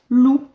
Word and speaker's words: loup: Le P, on l'entend pas.